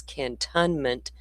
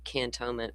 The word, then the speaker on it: Cantonment: You will see it spelled and mispronounced by all of the national media as Cantonment, Florida, but it's really Cantonment, Florida.